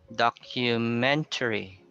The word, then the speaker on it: documentary: Then we have documentary. It's on the third syllable.